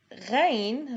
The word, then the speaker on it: غين: Ghain, like Ain, you really have to train yourself to learn how to pronounce Ghain. It is a gargling sound produced from the back of the throat.